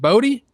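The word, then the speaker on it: Bote: It's a David Bodie. Pronounce that E, baby.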